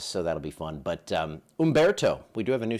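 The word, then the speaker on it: Humberto: So this right here, that is Umberto. You don't pronounce the H.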